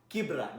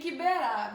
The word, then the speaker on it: Kibera: And we saw the videos of him taking hand sanitizers to Kibra. Now I know how to say it. Ni Kibera, but it's okay.